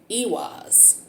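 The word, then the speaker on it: Eihwaz: in sagittarius we're looking at the room called ewas it's spelled e-i-w-a-z i'm sorry e-i-h-w-a-z here's e-was so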